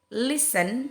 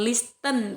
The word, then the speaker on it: listen: T itu seperti kata castle, Christmas, fasten, listen. Jadi ingat ya, bukan listen tapi listen. Often, ini kalau often ada dua pengucapan, guys.